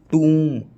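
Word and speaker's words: tomb: Sound silent रहता है, be always remain silent after म एंड र, एम एंड आर in final position. जैसे टूम, ये टॉम्ब नहीं है, कुछ इसको टॉम्ब बोल देते हैं, टूम होता है ये, टूम, है ना।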